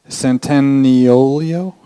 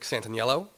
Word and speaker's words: Santaniello: next up is uh centennial i totally butchered that i'm really sorry about that um will be presenting the explorative and social media game barcode bots hi so uh my name is santaniello and uh i just